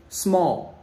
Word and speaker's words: small: c'est petit small small tu es pas obligé de prononcer le l small hein c'est un oh